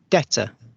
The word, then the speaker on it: debtor: So both the British and the Americans don't pronounce the B sound.